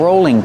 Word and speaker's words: rolling: This is called a rolling pin. A rolling pin. Use a long O sound for row, rolling. And the L is between vowels, so it's a light L. Rolling.